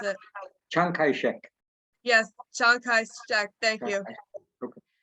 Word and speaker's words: Chiang Kai-shek: It's funny that you talk about them because Americans have great difficulty pronouncing foreign names. So they twist them. Chiang Kai-shek, to many American soldiers, became Shanker Jack.